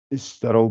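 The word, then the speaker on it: اشتروا: Vous dites bien un i, puisque c'est un verbe. C'est un i.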